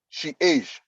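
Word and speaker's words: chage: e c h a g e is is pronounced she is so change age so for instance you can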